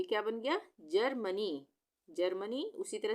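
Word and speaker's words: Germany: उसी तरह से GE जहाँ पर एक साथ आ जाएगा तो वहाँ पे ग का उच्चारण नहीं होगा, जी से ज बन जाएगा वो, तो ये क्या बन गया, जर्मनी, जर्मनी।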